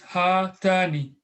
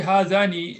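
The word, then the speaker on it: هاتان: For dual is hatani. Just remember, just memorize this. Is hazihi for singular, feminine for dual is hatani. Because if you just say hazani, it wouldn't be different. So we use hatani.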